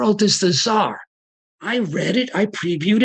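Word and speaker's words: czar: And the thing is, if she had previewed, someone could have said to her, that word is not Khazar, it's foreign word pronounced Tsar. Forget the C.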